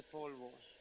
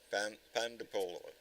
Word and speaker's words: pan de polvo: It's called pan de polvo. Pan de polo. I can't say it right. Polvo.